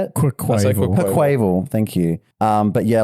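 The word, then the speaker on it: Quaquaval: Quackleval.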